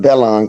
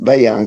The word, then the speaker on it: Bayon: I used to call it Bellon Club, but it's pronounced Bayon Club.